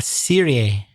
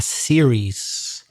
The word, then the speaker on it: series: you talked about a Serie A or something like that no the word in English is a series with a final s the singular has an S a series so it's TV series and fair enough the